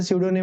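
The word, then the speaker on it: pseudonym: का मतलब होता है देखो पी साइलेंट यहां पर ठीक जैसे कि साइको में साइको में पी साइलेंट रहता है ना ठीक उसी प्रकार से सूडो निम में पी साइलेंट होता है ठीक है उपनाम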